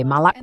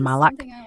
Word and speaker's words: Malak: Saya suka nama saya diucapkan sebagai Malak, bukan Malak.